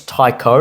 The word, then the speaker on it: Tycho: pronounce CH as Yeah. but it's Tycho, and it's cool.